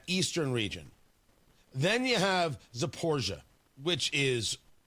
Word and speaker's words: Zaporizhzhia: Then you have Zaporizhia, which is, it's not an easy pronunciation, Zaporizhzhia. So it's either Zaporizhia or Zaporizhia. I believe it's just pronounced Zaporizhia.